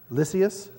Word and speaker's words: Lysias: But the commander, anybody got a proper enunciation for that pronunciation? Lysias.